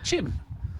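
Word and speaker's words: Qim: This is Hagar Jim, or Chim. Anyway, it's spelt with a Q, Q-I-M. So, don't know how that's pronounced, but that's how I'm pronouncing it.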